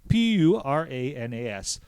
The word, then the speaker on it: Puranas: My wife is in the other room, and if she thinks that I butchered that pronunciation, she'll correct me, but it's Puranas, the Puranas.